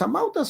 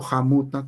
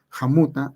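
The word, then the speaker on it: hamawt'a: Entonces, los amautas o jamuta, como nosotros llamamos, el término está bien aquí arriba, jamuta, así se debe pronunciar. Nos hemos acostumbrado al españolizado amauta, que tampoco no está mal, ¿no? Pero esencialmente es jamuta, así se pronuncia.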